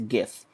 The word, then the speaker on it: GIF: of what that stands for and how you pronounce it so it's a gif and this is giphy not jiffy jeff is